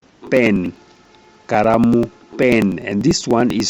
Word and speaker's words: karamu: But Kikuyus have a problem with L, so they usually substitute with R. So kalamu becomes karamu.